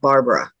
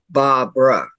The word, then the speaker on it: Barbara: Her name is not Barbara. It's Barbara. Yeah. And a lot of people say it wrong.